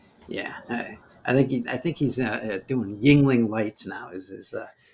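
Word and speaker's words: Yuengling: But they spelled it phonetically, called it Yingling, Well, and it ain't bad.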